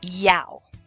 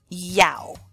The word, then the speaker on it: Yao: born on Thursday and the person who wrote this used the phonetic spelling which is great because if you're a male born on Thursday your name would be Yao Yao Yao okay if you